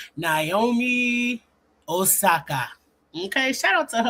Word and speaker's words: Naomi Osaka: I'm trying to get good at saying that name, Naomi Osaka. Okay, that's how they say it when you walk out on the tennis court. Oh, what they say, Naomi Osaka.